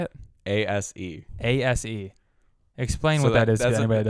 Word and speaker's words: ASE: got an ascert how do you say it a-s-e ASE explain what that is I'm not it's